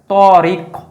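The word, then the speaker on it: طريق: তত আরেকটা হচ্ছে তত তটা আমরা জানি যেটা পুর হয় অর্থাৎ এটা হচ্ছে মোটা গম্ভীর আর তাটা হয় হালকা এটা হচ্ছে বারিক বা পাতলা উচ্চারণ তোদই দুইটা দুইটার সাথে আলিফ টান যোগ করা আছে তহলে তরিক ক আরেকটা হচ্ছে কফ কফের মধ্যে কলকলা আর এটা হচ্ছে কাফ কাফেরের মধ্যে কলকলা নেই এই জিনিসটা আমাদের খেয়াল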